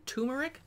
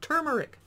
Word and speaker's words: turmeric: checking lemon turmeric cooler i had to struggle because i wanted to say tumeric because a lot of youtubers mispronounced that don't forget the first r turmeric creamy mango coconut froze